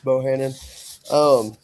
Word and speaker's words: Bohannon: And Mr. Bohannon, is that proper pronunciation? Yes, sir. That's it. Yeah, my name's Bohannon.